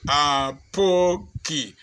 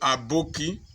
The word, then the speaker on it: Apoki: You will tell somebody, I am Dr. Charles Apoki. He will still call you Aboki. He will still call you Apoki. He will still call you Adoki or Apochi.